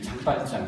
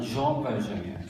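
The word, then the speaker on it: Jean Valjean: 그는 장발장, 정확하게 발음하면 주엉 발장이에요.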